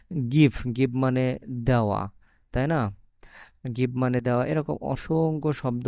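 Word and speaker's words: нога: মতন উচ্চারণ হবে তো নো গা আর উচ্চারণ ইংরেজিতে আমরা এ বলি কিন্তু রাশিয়ান ভাষায় এটার উচ্চারণ আ হবে তো নো গা নোগা মানে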